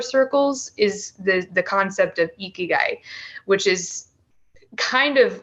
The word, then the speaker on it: ikigai: Yeah, that reminds me of, there's a concept in Japan, I believe it's pronounced ikigai.